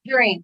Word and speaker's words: Jaireen: Jaireen, Leah, like a tangerine.